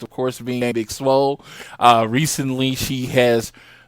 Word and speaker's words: Swole: Is that how you pronounce it? Or is Big it Swole? Swole.